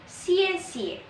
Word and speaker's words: 谢谢: Pronunciasinya X, I, E, ada nada 4. Nada 4 itu yang ke bawah tandanya ya, yang ke bawah. Xie xie, X, I, E, X, I, E, tanda 4, nada 4 di atas huruf E, ke bawah gini.